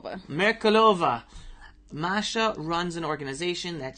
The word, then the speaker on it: Merkulova: How do you correctly pronounce the last name? Merkulova.